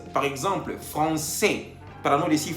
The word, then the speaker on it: français: C avec cédille tiene la pronunciación S. Por ejemplo, français, para no decir francais.